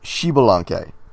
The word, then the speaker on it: Xbalanque: I would guess Xbalanque. Very close. Xbalanque. What? Are you missing a letter? No, that's how it's spelled. Are you sure there's not an XI like that? Yes, I'm sure. It's Mayan.